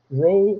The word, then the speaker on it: rho: the difference between beta and rho right uh row is spelled rho Great Character role right which is